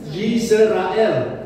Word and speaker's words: Yisrael: Pangeran pengenangnya Allah Haleluya baca ejaan yang asli yrael yrael bukan Israel yisrael Allah berperan untuk berpihak